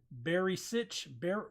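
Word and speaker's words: Barišić: Borna Barisic is what I've been pronouncing it, I think. Barisic. It's Barisic. Barisic. Sitch instead of sick.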